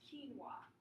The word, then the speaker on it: quinoa: to pronounce this so if you don't it's pronounced quinoa that's or something like that so today I